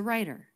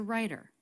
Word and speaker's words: writer: which is an r the w is silent in this word she's a writer she's a writer what's the most people